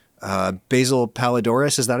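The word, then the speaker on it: Basil Poledouris: what's his name with the Greek name uh basil paladoris is that how you say his name yeah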